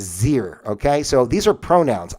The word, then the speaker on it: xyr: commonly pronounced Z, and the XYR is Zir, okay?